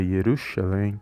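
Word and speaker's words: ירושלים: Yeshua Yeshua Hamashia ou quando nós falamos Jerusalém aqui no Brasil lá em Israel é yerushalem bom então vai sempre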